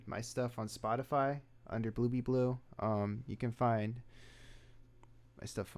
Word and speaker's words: Bluebebleu: So it's spelled blue, like the color blue, and then B, like not like the bee that flies, but like be as in become something, or you are something, and then blue is